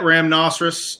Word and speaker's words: Ramnoceros: At Ramnoceros on everything. It's spelled just like rhinoceros, but instead of rye, it's ram.